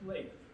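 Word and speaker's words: Leiv: L-E-I-V, pronounced Leif.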